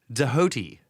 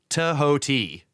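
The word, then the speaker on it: Djehuty: So the Egyptian pronunciation of this is not fully known, but may be reconstructed as Dahoti, perhaps pronounced Tahoti or Sahoti. This reconstruction is based on the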